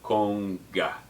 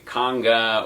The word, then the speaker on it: conga: I tell folks is pretend you're saying ice cream cone and then add a ga to the end of it so cone guy we don't want to say conga or conga these are mispronunciations of